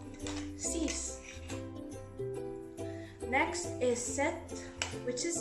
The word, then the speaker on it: six: Next, we have 6, which is spelled the same but pronounced differently. Six.